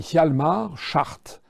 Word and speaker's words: Hjalmar Schacht: le parcours assez incroyable d'un type qui s'appelle Hjalmar Schacht. Ça s'écrit H-J-A-L-M-A-R, c'est son prénom, et Schacht, c'est S-C-H-A-C-H-T.